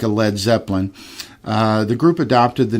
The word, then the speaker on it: Led Zeppelin: going down, like a Led Zeppelin. The group adopted the name, deliberately dropping the A in lead to prevent people from pronouncing it as lead.